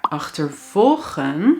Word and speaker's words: achtervolgen: Maar achtervolgen, je hoort de klemtoon op volgen, is to chase.